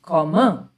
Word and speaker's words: komme: So it becomes ich komme. I'll keep telling you about the pronunciations as we go along.